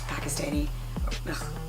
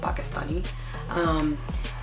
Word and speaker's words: Pakistani: She's Pakistani, sorry, I said it wrong, Pakistani.